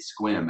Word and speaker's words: Sequim: It's spelled S-E-Q-U-I-M, Sequim, but it's Squim. There's no way you get Squim out of that. There's too many silent letters.